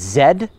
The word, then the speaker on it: Z: use the last letter of the alphabet it's Zed all right which doesn't rhyme with now i know my abcs but that's